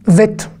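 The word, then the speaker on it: בית: La deuxième lettre, c'est un vet. C'est un bête sans point. D'accord ? Eh ben, il n'y a aucune voyelle. Donc, ça fait v.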